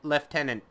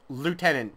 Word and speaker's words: lieutenant: now long story short they pronounce Lieutenant leftenant it's a French word they're pronouncing it wrong that was the entirety of like a 10 minute rant I went into boiling it down it is Lieutenant not leftenant so yeah that that's